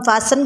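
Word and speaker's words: fasten: option C is correct इसको हम फसन बोलते हैं टी इसमें साइलेंट होता है बाकियों में टी को बोलना है क्वेश्चन नंबर टू है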